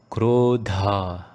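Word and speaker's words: क्रोध: So although you do not see a horizontal marking above the alphabets E and O, when you recite them, they are in an elongated form. Right? For example, we say this as Krodha, not Krodha.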